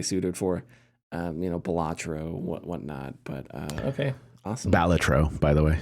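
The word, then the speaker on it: Balatro: saw IGN thing and they're like actually it's pronounced batro and I was like oh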